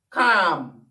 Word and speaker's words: calm: so that word is pam another word is calm calm c-a-l-m do you see so you see